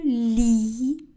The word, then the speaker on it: lis: Je lis. Le S est une lettre muette.